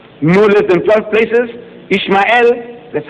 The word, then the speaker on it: Ishmael: I said, in the book of Genesis, the first book of your Torah, no less than 12 places, Ishmael, that's how they say it.